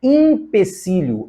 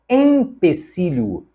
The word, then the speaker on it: empecilho: mas freada assim também não é impecílio é empecilho E finalmente não é